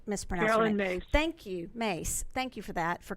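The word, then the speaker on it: Myss: opinion on this I think it was Carolyn Mies or miss I my SS I pronounced Miss Mary Mary Thank You mace thank you for that for correcting me on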